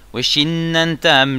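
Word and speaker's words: ושננתם: Sur le nun, le premier nun de Weshinantam, il y a un dagesh. C'est un dagesh hazak. Donc il faut vraiment prononcer comme s'il y avait deux nun dans le premier nun. En fait on va dire qu'il y a trois nun.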